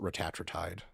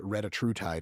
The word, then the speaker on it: retatrutide: So there's a bunch of them, but I pronounce it retatrutide. Right. You can also say it retatrutide if you want to say like 3 words instead of 1.